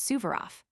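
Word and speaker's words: Suvorov: The Duke of Portland received a letter yesterday before he left Dover from his son who is with Marshall Subaro, pronounced Subverof, of the Battle of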